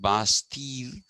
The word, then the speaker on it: Bastille: the bastille which is b-a-s-t-i-l-l-e it is pronounced bastille and you barely pronounce the l it's bastille you know